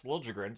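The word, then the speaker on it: Liljegren: so it works uh and then you've got lilligren it should be l but he wants to pronounce lren so here we are five games no points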